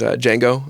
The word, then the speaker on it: Django: of my favorite movies Django Unchained and the whole D is silent thing that he has throughout